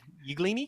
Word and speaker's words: Yglini: Yglini, kind of like a like I said, kind of an Italian pronunciation.